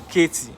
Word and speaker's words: Katy: So I usually call it Katy or Katy before, but they said the T is silent, so they expect my tongue to do magic and say Katy, Houston, Texas.